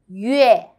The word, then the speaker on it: 月: 月, 月. Actually, it's 鱼 and 鹅 together. 月 first time. 月月月 very good. Now let's write together. First one. 撇横折勾横横月 Okay, let's learn how